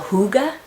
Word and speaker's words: hygge: Norwegian people they have something that they call hygge it doesn't look like it would be out then the word would say hygge but that's how you pronounce it so hygge is the Danish or Norwegian word for a